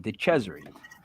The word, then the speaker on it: DeCesare: Yes, I say it correctly. I'm Italian. DeCesare.